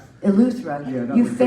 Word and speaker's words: Eleuthera: I remember at one point you guys FaceTimed me from, how do you pronounce it? Urethra? Eleuthera.